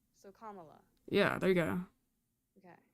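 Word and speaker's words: Kamala: No, it's comma. That's why I corrected you. It's comma. It's literally comma la. So comma la.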